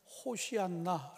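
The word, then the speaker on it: הושענא: 118편 이 15절에 등장하는데 히브리 어로 발음할 때는 호시 않나 라고 이렇게 발음합니다 그런데 이 허쉬 않나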